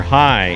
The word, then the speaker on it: jai: little quickly so yes you said enter hi and you didn't tell folks to spell it j-a-i i was gonna say